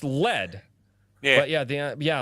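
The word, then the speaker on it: lede: word dead the day no it's pronounced lead yeah but yeah the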